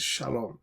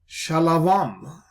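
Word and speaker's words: שלום: Now there are those who oppose the Tiberian vowel system and they have invented for themselves new kind of pronunciations like shalavam right there is no shalavam.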